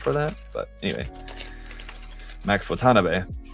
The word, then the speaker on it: Watanabe: like Max Watanabe uh Watanabe actually I think is actually the correct intonation as I just kind of recently realized I had been uh not exactly saying it wrong, but I think the uh it's not intonation, but what do they call it? I don't know if it would technically be intonation or pitch accent cuz Japanese uses pitch